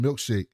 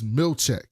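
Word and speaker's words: Milchick: He keeps calling him Milkshake. And Mark S is like, it's Milchek.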